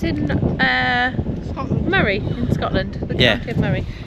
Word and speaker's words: Moray: And apparently it's pronounced yeah. Murray. Murray. I used to call the Moray Council, but it's Murray.